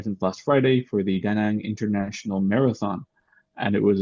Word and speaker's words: Da Nang: Yes, so for me right now, I'm in Da Nang or Da Nang or Da Nang or Da Nang. There's many ways to pronounce it depending on where you're from, even within Vietnam.